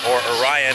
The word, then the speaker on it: Orion: major announcement which is if you're British and you want to pronounce correctly Orion is coming to Kings Island next year or a Ryan as we know it so we're gonna